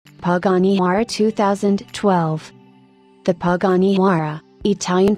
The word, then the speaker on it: Huayra: Panara 2012 the Panara Italian pronunciation is a mid-engine sports car produced by